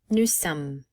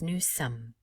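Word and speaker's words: nous sommes: consonant of that word new sum again we do not pronounce the final s and because there are two m's here we will pronounce them and we will not make the o nasalized so again it's new sum when we're learning later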